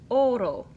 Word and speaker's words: oro: do in Spanish, ro, you quickly tap the tip of your tongue just behind your top front teeth. Ro. You have to just tap it really quickly, otherwise you go do if you push too hard. It's kind of like in the English word Betty.